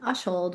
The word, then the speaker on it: Ushold: Ushold with a short U.